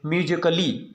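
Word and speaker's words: musically: यदि ए के बाद डबल एल वाई आए तो ए को हम क्या पढ़ेंगे? हमेशा साइलेंट पढ़ेंगे। जैसे नीचे आपका दिया गया है दोस्तों, आप देख सकते हैं म्यूजिकली। म्यूजिकली का मतलब यानी इसमें सी ए डबल एल वाई जो आपका लास्ट में है, इसको हम ए को साइलेंट कर रहे हैं यानी कली, ठीक है ना।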